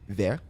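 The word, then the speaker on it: verre: Thank you very much.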